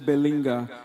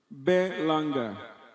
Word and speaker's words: Berlanga: What's the right pronunciation? No, sir, you are the one that smiled. Berlanga.